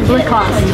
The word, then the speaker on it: Lacoste: Lacoste. Yes. So no E in the end. No. Lacoste. Remember? Lacoste. Or if you want to say it with like a little bit of a French accent, Lacoste.